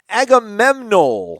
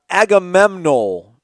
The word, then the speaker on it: Agamemnon: anybody but Odell yeah definitely be able dough Agamemnon let me ask you this as lon yeah